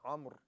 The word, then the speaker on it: Amr: And that's, again, I said Amr because some scholars of Rijal, I think Sheikh Al-Tusi says that the correct pronunciation is Amr, but both of them,